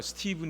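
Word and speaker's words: Stephen: 스티븐 코비 그럼 에그 스티브는 ph 가 나오니까 스텝 1 이렇게 생각할 수 있는데 그 잖아요 스티븐 입니다 스티븐 v 발음이 납니다 그리고 이 스티븐 2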